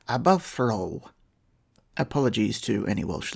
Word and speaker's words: Aberffraw: pronunciation of that word in Welsh it's something closer to above for all apologies to any